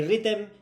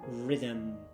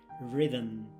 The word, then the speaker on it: rhythm: Most Spaniards struggle with it because there is no vowel after the TH. Esta palabra no se dice ni rhythm, ni rhythm, ni nada de eso, okay? It's a quick, smooth sound. Rhythm. That final M just hums softly.